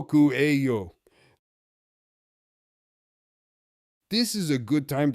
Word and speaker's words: cuello: Q A yo cuello.